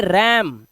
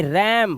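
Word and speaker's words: RAM: रैंडम access memory तो ये रम इसे क्या पढ़ेंगे रम बोलते हैं ना रम ये राम नहीं है रम इंग्लिश का वर्ड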